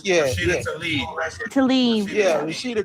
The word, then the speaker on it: Tlaib: Rashida Tlaib. Yeah, Rashida Tlaib.